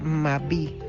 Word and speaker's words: mabí: a la chicha es el mabí con b alta y acento en la i latina Qué es una bebida